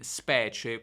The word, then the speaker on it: specie: In specie quella I non si pronuncia, è praticamente assimilata alla C, ok?